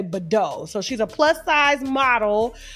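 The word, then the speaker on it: Bidot: And so his fiance, Denise, I think her last name is Badeau, or it's spelled like bidet, but with an O, so I'm just going to say Badeau.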